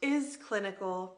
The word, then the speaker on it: iS Clinical: two and so I have confirmed it is pronounced is clinical because it is clinical and I love that